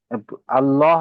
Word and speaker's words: আল্লাহু: হ্যাঁ, এখানে কিন্তু আহ, উচ্চারণের সময় আমরা হু, হু উচ্চারণ করছি। হুম, এখানে আল্লাহু। আল্লাহু হবে এখানে।